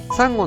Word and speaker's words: 稲妻: ネルには稲妻と書いてサンゴという技があります。